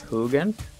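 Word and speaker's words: Hugin: is hugging i think i want to say i think it's pronounced hoogan but i'm just going to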